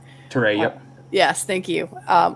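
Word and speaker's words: Touré: and maj tor um i always say his name wrong taray yep yes thank you um who i keep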